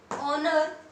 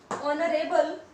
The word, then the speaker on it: honor: Hour, air, honor, honorable, so these are the words which starts with consonant H. But H doesn't give here sound. It is silent.